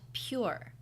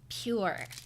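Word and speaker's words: Pyure: It's a brand of stevia called Pure, spelled with a Y. Pure.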